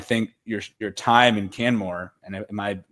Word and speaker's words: Canmore: of that I think your your time in Canmore and am I pronouncing that correctly yeah it's perfect good so